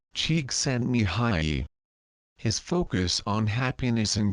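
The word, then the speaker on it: Csíkszentmihályi: in case you're wondering his last name is pronounced Chek send Mi High his focus on happiness and creativity led to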